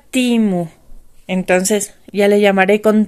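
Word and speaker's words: Temu: instrucciones de los videos me pusieron se pronuncia timu Entonces ya le llamaré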